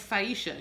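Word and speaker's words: Syesha: of Beyonce songs, and her name was Saisha. She had such a beautiful angelic voice, and it's spelled S-Y-E-S-H-A, and I just fell in love with that name.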